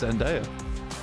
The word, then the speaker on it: Zendaya: Just be quiet a sec whilst I listen to this pronunciation. It is Zendaya.